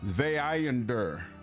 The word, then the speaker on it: Zweihander: Zweihander. Is how you pronounce it.